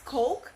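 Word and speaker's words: Koch: business okay Mr Coke in which it is pronounced as Coke was considered as a founding member of the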